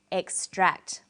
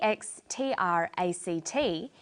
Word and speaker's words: extract: on the second syllable extract but e ex t r a c t is also a noun when it's a noun it's pronounced extract the emphasis is now on the first syllable and this pattern of